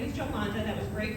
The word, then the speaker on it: Jolanda: so i uh so i my name is joe monda that was great pronunciation thank you jay and uh i know